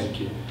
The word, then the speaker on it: Handke: Como é que Peter pronuncia? Handke.